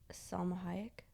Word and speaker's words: Salma Hayek: someone in his office like whose other chicken salma hayek is how you say her name but remember